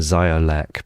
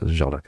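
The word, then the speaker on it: Ziołek: I was Zimpel and Ziolek, but Jolek is meant to be pronounced.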